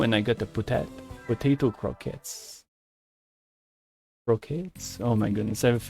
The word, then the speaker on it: croquette: yeah absolutely oh and I got the potato croquettes Croquettes oh my goodness I've named it pronouncing it in English properly in French it's